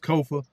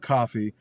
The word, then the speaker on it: Kofa: I am your humble host, Kofa, K-O-F-A, not coffee, not kufu, not Kofi, or any variation thereof. Kofa rhymes with sofa.